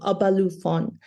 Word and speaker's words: Obalufon: His novel, Shigidi and the Brass Head of Obalufon, uh I think I spelled I I pronounced that wrong, Obalufon, a story of African gods liberating an item